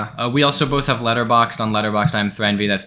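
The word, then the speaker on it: Letterboxd: My letter boxed is letter boxed. Is that annoying? Is that annoying that I say that? Letter boxed. That's how you say it. That's That's I've only ever heard people say letter box. It has a D.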